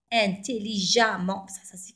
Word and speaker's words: intelligemment: je vous dis non intelligemment se prononce a intelligemment avec eux j'étais prudent